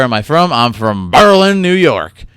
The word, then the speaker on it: Berlin: And I say Berlin because that's how you're supposed to say it. Now, Berlin, Germany, obviously based on that name. But the people where I'm from, they say it like that. They say Berlin.